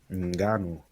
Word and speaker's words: Ngannou: You know, even though as I said, him and the Francis, how do you pronounce that last name? Ngannou.